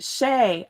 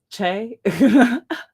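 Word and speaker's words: Shea: Shay. Oh, cool. Shay. Got it. I'm so Texan. Che.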